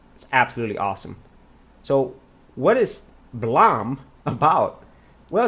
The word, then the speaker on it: BLAME!: then you have to see Blom actually that's how it's pronounced I thought it was Blaine and I saw this